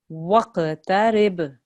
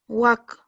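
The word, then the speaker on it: واقترب: wasjud Waqtarib. waqtarib Waq. Good, because this is a qalqala letter.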